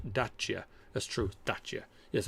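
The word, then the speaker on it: Dacia: i3 i3s and just small niptic dasia is pronounced dachya that's true that's yeah yes i know over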